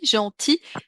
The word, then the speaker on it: gentil: bien fait gentillesse gentillesse être gentil on prononce pas à la fin on a le son i gentil mais la gentillesse pour